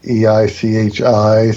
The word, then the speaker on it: Eichi: really handmade, extremely limited pieces, including the H2, EICHI, spelled H-E, but it's pronounced H.